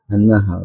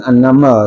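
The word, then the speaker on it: النحل: An-Nahl. Bukan Annamal ya. Kalau namal semut ini An-Nahl lebah ya.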